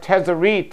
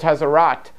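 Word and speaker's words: tzaraat: with the idea of tarit and I know I pronounce it wrong I don't speak Hebrew and it's actually called tarat or more closer to that I say tarit basically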